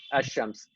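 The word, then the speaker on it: الشمس: Okay, so when you see a shadda on the letter that comes after the lam, you know that you don't pronounce the Oh lam. yeah. You say ar-Rahman, ash-shams.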